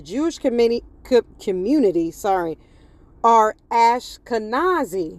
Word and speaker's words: Ashkenaz: From postbiblical Hebrew, Ashkenazim, plural of Ashkanazi, equivalent to Ashenaz, right?